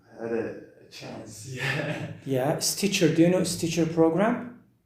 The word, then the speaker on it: Stitcher: Stitcher, yes. The second T is silent.